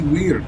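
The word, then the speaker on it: wyrd: No, it is spelled W-Y-R-D. Totally different word. You're the perfect person for me to ask this question to. They're homophones. Wait, what? That means sounds the same.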